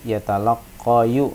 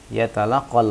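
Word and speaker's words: يتلقى: Tidak boleh kalian membacanya yatalaqqayu ya, karena alif lazim atau alif yang ada di akhir kata ini tidak menerima sama sekali baris-baris, baik itu dhammah maupun fathah maupun kasrah. Yatalaqqal waladu hadiyatan.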